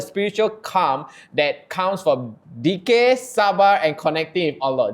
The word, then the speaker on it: dhikr: She reminds Muslims to rediscover the spiritual calm that comes from dhikr, sabar, and connecting with Allah. Did I pronounce that correctly? Lovely. Dhikr. Zikir. I'm so sorry, Zikir.